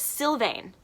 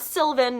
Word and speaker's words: Sylvain: in my videos but I think it's Sylvain not Sylvan not Sullivan not sy its Sylvain I believe is the appropriate pronunciation and then nouvelle I